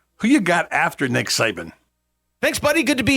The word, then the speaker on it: Saban: Number 1's a guy, I think it's pronounced Saban.